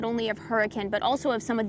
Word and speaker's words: Hurricane: So Leeds, United Kingdom, they're going off of that accent of hurricane, but it's hurricane. It's spelled like hurricane, and that's because it can get windy here.